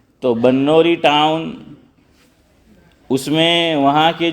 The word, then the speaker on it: بنوری: ادارہ ہے بنوری ٹاؤن، بعض لوگ اس کو بنوری بولتے ہیں لیکن صحیح تلفظ با پر زبر ہے۔ تو بنوری ٹاؤن، اس میں وہاں